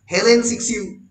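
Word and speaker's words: Cixous: Julia JULIA KRISTEVA, Julia ক্রিস্তেভা, লিউজ ইরিগারে LUCEIRIGARAY, ইরি গ্যারে, অ্যান্ড হেলেন সিক্সিউ, উতে গিয়ে শেষ হবে, এস এর উচ্চারণ হবে না, হেলেন সিক্সিউ।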